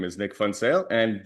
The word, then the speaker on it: Funale: Well, my name is Nick Funale and yes, it is pronounced funale as in it is fun toale.